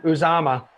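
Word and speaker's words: Uzomah: six catches are you say his name again uzama yeah uzama yeah oh okay and so we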